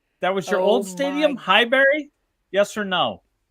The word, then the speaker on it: Highbury: That was your old stadium, Highbury? Yes or no? You're pronouncing it like it's fucking Mayberry. It's Highbury. It's Highbury. What are the Highbury? No, yes, I thought it was Highbury rhymes with library, and that's how fucking quiet that stadium was.